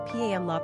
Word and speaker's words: Pamela: Therefore, Pamela's etymology was most likely intended to mean sweetness. Sidney also pronounced the name Pamela rather than the Pamla pronunciation we're familiar with today.